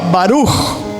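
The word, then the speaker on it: ברוך: Se escribe baruc, termina en cada kilo, baruc, pero se pronuncia como está escrito arriba, baruj.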